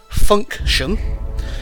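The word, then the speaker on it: Funktion: by the name of Function. That's spelt with a K, so it's Funk, as in Marky Mark and the Funky Bunch, and Shun, T-I-O-N.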